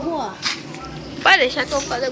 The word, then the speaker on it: João: Desafio pra cá, pra mim, pra Juan. Galera, só lembrando que o nome dele é Juan, mas se escreve João, por isso que eu botei João lá no canal lá. Ó, escreve com J.